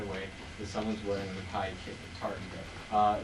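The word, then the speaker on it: McKay: Mackay, which in Scotland, that's how we pronounce his name, is Mackay, because he is Scottish, and that's how they pronounce it. It's David O. Mackay, though.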